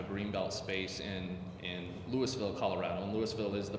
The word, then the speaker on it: Louisville: kind of a green belt space in in Lewisville Colorado and Louisville is the proper pronunciation of louville wanted wanted to hot that